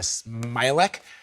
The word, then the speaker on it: Smialek: So for more on this, let's bring in Jeanna Smialek.